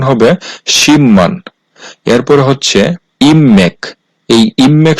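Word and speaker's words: 십만: আর বিউব বাচ্চিমের পরে আছে মিউম এই শব্দটার উচ্চারণ হওয়ার কথা ছিল শিপমান কিন্তু বাচ্চিমের রুলস হচ্ছে বিউব বাচ্চিমের পরে মিউম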